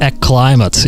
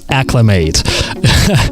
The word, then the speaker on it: acclimate: I pay your great attention to this pronunciation of the word. Not climate, not acclimate, but acclimate.